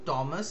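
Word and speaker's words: Thomas: ব্যক্তির নাম হচ্ছে কি টমাস উইলসন তোমাদের একটা জিনিস বলে দিই যেটা হচ্ছে যে ইংরেজিতে টি এইচ এর উচ্চারণ কোন সময় থ বা দ এরকম হবে না ওটা ট হবে টমাস উইলসন ঠিক আছে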